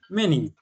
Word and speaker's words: many: Se escribe Manny, se lee así. No, ahí dirías la cambias la por la E. ¿Cómo? Many. Many, okay. Eso, ¿eh? Como si esta fuera una E, many.